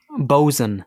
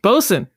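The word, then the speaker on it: bosun: another one too yeah bosen bosen which is short four boat swing boat Swain do you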